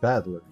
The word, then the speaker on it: Battler: the characters for fight and person and is pronounced badler yeah you're not the fighter type of guy that's for sure which is kind of ironic put it all together and you've got ushiramiya battler pretty crazy right it's crazy enough that my